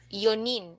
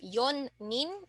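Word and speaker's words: 四人: havei two fi and four yonin so uh this is just just a single consonant not double so instead of yon n it's just yonin okay so let's try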